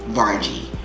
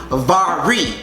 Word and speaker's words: Varij: Can y'all please stop calling me Vargy? It's Vari. Vari. I just had to get that out of me because I keep hearing people say Vargy. Just because it's spelled V-A-R-I-J doesn't mean it's Vargy. It's Vari J.